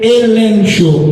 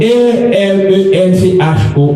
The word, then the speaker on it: elencho: Il sortit dans un mot grec qui disait elencho, E-L-E-N-C-H-O, elencho, vous voulez prononcer le comme ça.